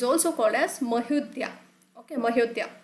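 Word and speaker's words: Mahodaya: Okay, Mahodya. You can remember Ayodhya. So in the similar fashion, you need to pronunciate it as Mahodya.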